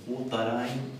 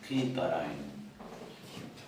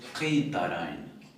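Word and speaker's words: قطارين: No es ni Kutarain, ni Katarain, sino Kitarain. O sea que esta también tendría un...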